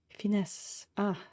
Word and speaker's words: finesse: Finesse. Without pronouncing the E.